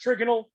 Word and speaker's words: trigonal: was going to uh trip people up it's pronounced trigonal trigonal pyramidal don't get that confused with this